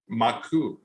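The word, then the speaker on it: マーク: name is Mark but if you say his name in Japanese it would be what anyone dragon maku right that's how you say Mark in Japanese which is m-a-a-k-u and you can flip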